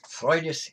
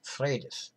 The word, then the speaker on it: Frøydis: On that note, one usually hears her name pronounced Frøydis and the goddess as Freya, but that's the modern pronunciation in the Scandinavian languages. But in Old Norse 1,000 years ago, her name was Frøydis, just as the goddess was Freya.